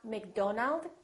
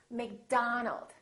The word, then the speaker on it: McDonald: with the letter O make sure that you don't say oh it's not Robert it's Robert it's not McDonald its McDonald alright let's practice repeat